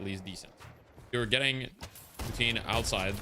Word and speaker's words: poutine: Yes, it's called poutine, or the English pronunciation is poutine.